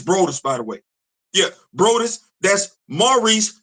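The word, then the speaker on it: Broaddus: Yeah, Brous. That's Maurice spelled like how we would spell Maurice.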